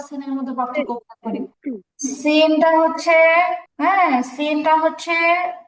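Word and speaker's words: سين: মধ্যে পার্থক্য করিনটা হচ্ছে সিনটা হচ্ছে কি বলা যায় চিকন বলা যায় তুলনামূলক চিকন সদের উচ্চারণটা হচ্ছে সিনের চেয়ে মোটা সিন হচ্ছে তুলনামূলক চিকন উচ্চারণ তার সদ হচ্ছে কি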